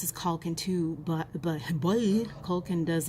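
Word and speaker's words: Culkin: overriding sense is that it is pronounced with the same vowel sound as the first name.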